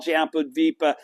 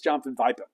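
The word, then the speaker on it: Jambudvipa: Buddha land includes Al jampad vipa the jampad vipa the entire world and will endure forever I miss pronounce that all the time it's John F via okay but what is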